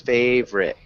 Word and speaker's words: favorite: work on it yeah same with favorite it's just those two syllables favorite favor good favorite favorite